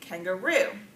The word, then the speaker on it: kangaroo: syllable there and then lastly kangaroo kangaroo on the last syllable first syllable second syllable